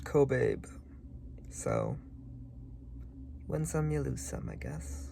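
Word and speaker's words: Kobabe: check for pronounciation um it's pronounced cobab so when lome I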